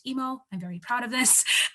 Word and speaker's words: EAAMO: Algorithms, Mechanisms, and Optimization, EAAMO, or pronounced EMO.